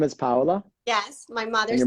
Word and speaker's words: Paola: It's like pow, like you're punching someone like pow and then hola.